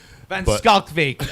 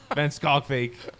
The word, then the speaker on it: Van Schalkwyk: I got a tutorial from Michael Voss last year, and I went straight to the horse's mouth a few days ago, and he confirmed with glee. I've never seen somebody so happy to have their name pronounced.